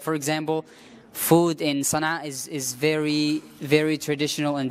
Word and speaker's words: Sana'a: So the country name is Yemen, okay, and then the capital is Sana'a. Sanaa, Sanaa. Sanaa means, in Arabic we pronounce it Sanaa.